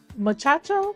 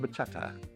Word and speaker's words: bachata: Fun fact, Havana hosts a lot of salsa and muchacho. I think I said. I hope I'm saying it right. How do you say it? Salsa and bachata.